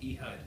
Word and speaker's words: Ehud: how do you i'm sorry how do you pronounce it he hud all right e hud okay we switch everywhere it was sent from